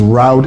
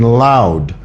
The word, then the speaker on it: loud: made it somebody says roud and clear I'm pretty sure you mean loud and clear it's an l sound it's not roud and clear that's wrong say it right all righty um let's